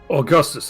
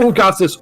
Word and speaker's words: August: Augustus, at your service. I am a priest of Bragi on pilgrimage. No, not Augustus, August. August. That's how It is pronunciation August here. in the official translations.